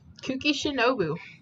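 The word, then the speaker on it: Kuki Shinobu: I have been saying her name pretty right kooky shinobu that's what they said oh hey shinobu hey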